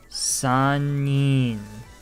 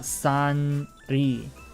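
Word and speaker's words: 三人: And then once we hit 3, sanin. Sanin. It's not sanri. Sanin. The 3 is only for hitori and futari. 1 person, 2 people, 3 people. Sanin.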